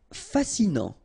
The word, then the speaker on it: fascinant: Fascinant, final T not pronounced, so you get this A-N, en, non, fascinant.